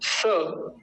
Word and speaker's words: स: मेरे साथ बोलिए, इज्जो हवीती। हो गया ना। स, से नहीं कहेंगे, से, है ना, स होता है, स।